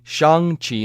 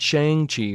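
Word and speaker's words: Shang-Chi: i pronounced it correctly shang chi not shang chi right it rhymes with hung and not wang so that's boom that's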